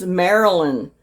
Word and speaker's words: Marilyn: And I pronounced her name wrong. It's Marilyn.